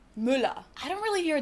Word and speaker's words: Müller: Müller. Müller. No, not Muller, but Müller.